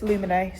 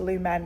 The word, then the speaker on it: Lumina: Beginning of that video, I pronounced that unbelievably wrong. Um, and now I've learned it's Lumina. So, don't go into Boots and ask for Lumen because you'll look a fool and that would be my fault.